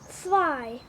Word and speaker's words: zwei: Zwei. Zwei. Bunu böyle çıkıyor. Sanki TS gibi. Zwei. Bakın böyle. Birazcık zor ama evet, öyle olması daha iyi. Evet. Zwei.